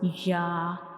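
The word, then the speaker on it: ي: So when we pronounce ya, we will touch the middle of the tongue to the upper hard palate.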